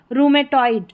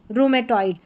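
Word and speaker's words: rheumatoid: यहां पर है रैटोरिक और यह है रूमेटॉइड। रूमेटॉइड। ठीक है? मुश्किल स्पेलिंग्स है यहां पर आर एच। आर एच का उच्चारण दे रखा है साथ में र क्योंकि आर का उच्चारण है एच साइलेंट है।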